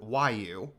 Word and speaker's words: Wu: Flame Marshu Wu. That's how you pronounce that. Wu.